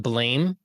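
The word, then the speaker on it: Blame!: or whatever but um it's spelled blame but i guess pronounced blam to my understanding oh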